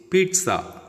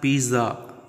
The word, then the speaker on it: pizza: Next word is pizza. It's not pizza. Za sound won't come.